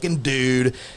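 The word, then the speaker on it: Dood: to pronounce it it's it's pronounced the dude d o o d all I have to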